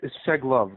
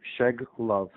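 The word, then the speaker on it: Shcheglov: I don't want to mess up your last name, my friend, but it's Sheglov. The CH is silent, so you just skip the CH and Sheglov. Okay, Sheglov.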